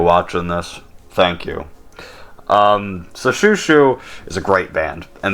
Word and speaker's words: Xiu Xiu: I also pronounced their band name Xiu Xiu, so my bad. Thank you to the commenter that corrected me.